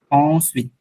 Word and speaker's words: ensuite: Thus, as a result, in that way, ainsi, ensuite, ensuite, আমি কিন্তু লাস্টে টিটা উচ্চারণ করতেছি, হ্যাঁ, এটা কিন্তু টিটা আমি উচ্চারণ করতেছি। ensuite, ensuite, as a তো